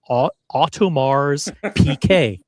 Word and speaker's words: Audemars Piguet: Now listen, there's been a lot of confusion over the years about the pronunciation of the brand. And I think Adrian clears it up. And I think he's verifying and confirming what we've known all along. It's Audemars Piguet.